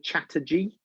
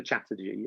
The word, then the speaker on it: Chatterjee: a guy called dr chatterjee and it is spelt exactly how it uh sounds phonetically chatter as in natanata and g j uh j double e dr chatterjee and it's feel better